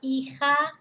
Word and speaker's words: hija: we use evil against we don't pronounce that pronounce the H the J is a heard sound so L Eagle or la hija los hijos the collective so I only have